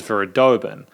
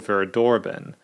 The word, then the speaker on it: Verdorben: At the start of the review, I incorrectly pronounced the name of the song as Verdorben. The song is actually called Verdorben.